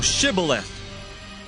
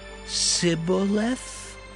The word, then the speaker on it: Shibboleth: If he said, Nay, then said they unto him, Say now, Shibboleth. And he said, Sibboleth? For he could not frame to pronounce it right.